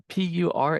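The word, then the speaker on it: Puracé: He asks um Simone great talk um information about perase. Is that how you pronounce that? Volcano. Sorry, which one? P U R A C E.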